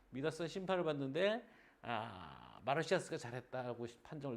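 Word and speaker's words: Midas: 때 심판을 받던 사람의 마이다스의 손이라고 하잖아요. 왜 영어식으로 발음해서 손으로 맞이 모든 황금이 되는 그 미다스 심판을 받는데 마르시아스가 잘했다고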